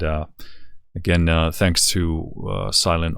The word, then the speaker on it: Silen: again uh thanks to silent audio uh the t is silent uh for sending this